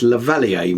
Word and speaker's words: lavalier: keema fun wireless microphone this looks good yes lavalier mic that's how you say it the valley